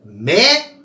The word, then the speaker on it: médico: caso de médico veja Qual a sílaba mais forte da palavra médico ao a mais forte é o Me tenta mudar o assento